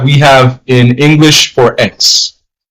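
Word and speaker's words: equis: X. E-Q-U-I-S. That's the basic pronunciation. X. That's how you say X. But X is a bit debatable. It's debatable because some persons in Spanish pronounce it like a CH.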